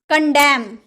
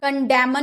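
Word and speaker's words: condemn: डैम बोलते हैं डैम नहीं ना एन का उच्चारण नहीं होता है डैम यानी कि धितकारना कंडेम कंडेम कंडेमन नहीं बोलेंगे ना कंडेम यानी कि निंदा करना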